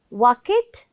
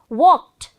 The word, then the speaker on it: walked: do you say it walket no it isn't walket it's walked say it loudly say